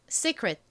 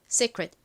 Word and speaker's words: secret: secret. 한번 읽을까요? secret. 좋습니다. 가장 끝에 t는 원래 티 소리 트 소리가 나는데 끝부분에 오면 약하게 소리가 나다 보니 secret secret 이렇게 거의 받침처럼 들리죠.이 t를